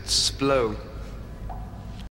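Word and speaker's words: Splott: Splot. Splot? I believe estate agents pronounce it splow.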